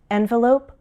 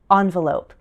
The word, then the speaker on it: envelope: In my other lesson on words with multiple pronunciations, I included this one, envelope, envelope. You'll see that same pattern in other words that use the prefix en, as in enclave, enclave.